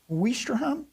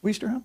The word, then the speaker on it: Ouistreham: Free French commando forces also helped secure the resort town of, I think I pronounced this right, Ouistreham? Yes. Ouistreham?